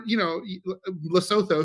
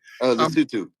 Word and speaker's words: Lesotho: Or, Lesotho, whose name I mispronounced, and I know you pronounce correctly. Lesotho. Lesotho. Only because I knew a woman from Lesotho. That's the only reason I know how to say it.